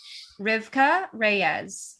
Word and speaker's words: Rivkah Reyes: to say can i just double check the pronunciation of your name rivka reyes yes i'm saying it right